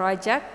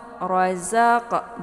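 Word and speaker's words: رزق: Jangan dibaca sebagai 'razaq', ya. Ini adalah 'zai'. 'Zai' adalah huruf lidah. Letaknya dekat dengan ujung lidah. Jika Anda membacanya sebagai 'rajak', maka lebih condong ke huruf 'jim'. Sedangkan 'jim' terletak di tengah lidah, dekat dengan 'sya'. Waimma. Razzaq. 'Rozaq' , bukan 'razaq'. Ini berbeda. 'Ja' dan 'za' berbeda.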